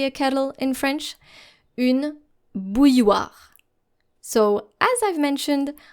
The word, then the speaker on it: bouilloire: So as I've mentioned, our L's here are silent. Une bouilloire. Now let's do this step by step. Bouille. So think of pronouncing something like B-O-U-Y. Bouille. And then war. W-A-R. Bouilloire.